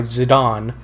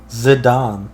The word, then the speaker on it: Zidane: now scored on zidane zidane zadon like zinedine zidane isn't this zidane uh i think it's pronounced as a don well he is french so they don't pronounce